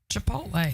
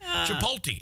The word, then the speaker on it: Chipotle: how old you are, the way you say the restaurant where I got the CHOPOTLE. How do you say that? Chipotle. Yeah, Chipotle. The big thing is a lot of people over 50, they say Chipotle.